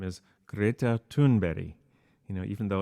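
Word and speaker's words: Greta Thunberg: of her name is greta tunberry you know even though it's spelled tuneberg so i will refer to her in the way of her native language as best as i can well she was 15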